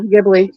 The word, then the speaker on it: Ghibli: Yeah, Ghibli.